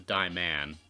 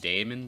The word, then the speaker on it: Diamond: Okay, seriously though, I thought it was Diamond. Like, I know we were pronouncing it Damon before. No, it's always been Diamond.